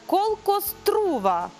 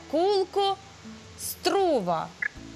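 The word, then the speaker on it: колко струва: О, кулку струва. Добре. Бачите, я згадала, виправила себе сама. Буква О читається як, майже як У, а друга читається як О, так? Тому що на неї наголос є.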